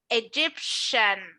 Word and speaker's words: Egyptian: this T, I am not going to pronounce it like T. Instead, I'm going to pronounce it like sh, like with Russia. So this is going to be Egyptian.